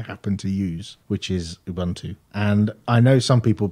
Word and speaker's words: Ubuntu: distribution that I happen to use which is Ubuntu and I know some people pronounce it differently some people say Ubuntu and